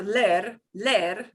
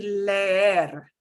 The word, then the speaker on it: leer: But if I have two of the same vowel next to each other, I'm going to pronounce them both.